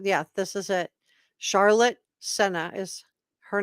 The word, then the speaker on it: Sena: could have headed across the border to Canada Senna is how you pronounce her say her name that's her last